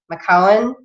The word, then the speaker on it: McKeown: It's called Essentialism by Greg I'm not going to pronounce his name right. It's McKeown.